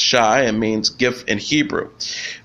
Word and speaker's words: Shai: out for people if I settle on Shai pronounced Shai and means gift in Hebrew um she also